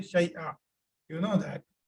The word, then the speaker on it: شيئا: Because you're stopping, so you say شيئا. You know that. When there is tanween, two fatha ending, and you're stopping there, so you will pronounce it as single fatha.